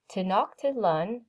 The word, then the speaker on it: Tenochtitlan: Tenochtitlan, I'm saying it again because it's in case you want to know how to say it.